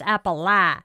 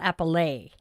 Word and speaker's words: Appalachia: I have pronounced the name of that um region wrong my entire life. It's Appala and not Appallet. Um so yeah.